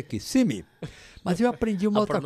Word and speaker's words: Kissimmee: queriam saber mais coisa que eu achava de Kissimmee. Eu falei, olha, foi interessante, quando eu cheguei aqui eu vi que a cidade não chama Kissimmee, porque o cônsul também chamava de Kissimmee, eu fiquei chamando de Kissimmee, até chegar aqui que eu vi que não